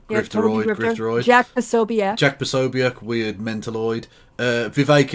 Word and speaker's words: Vivek: Vivek, it rhymes with K.